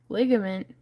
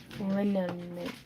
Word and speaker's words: liniment: Ligament? Oh, I see. I pronounced it wrong. My bad. Do what, Randy? Liniment. All right, Aunt Sarah.